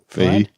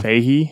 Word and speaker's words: Feige: Feige. Yeah. Feige? Yeah. Oh, whatever. Kevin Feige. He's got a G in there. I know, but I think it's silent.